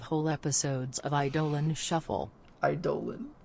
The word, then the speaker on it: Eidolon: Eidolon. I mean, that's how you pronounce it. It's dumb. You shouldn't, the Greeks are wrong. It should be Eidolon. Eidolon sounds so much cooler than Eidolon. They're weird. Eidolon, it rhymes with colon.